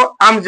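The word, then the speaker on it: alms: लिखा गया है लेकिन पढ़ते क्या है इसको अमज पढ़ते हैं ए एम जे एमज या एम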